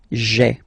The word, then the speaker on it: j'ai: you get this sound j'ai, j'ai. Okay, so j apostrophe ai. Remember, when you combine this ai, you get the e sound.